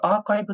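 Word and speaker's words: arXiv: あとは、これアーカイブって読むんですけど、論文ですね。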